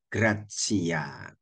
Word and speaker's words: gratia: dikaitkan dengan gratsia ya tulisannya ee gratis s-nya diganti a bacanya tulisannya gratia bacanya graatsia hendaklah kamu murah hati